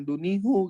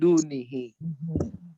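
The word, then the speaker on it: دونِهِ: Min dunihu, jangan dunihu gitu. Min dunihi.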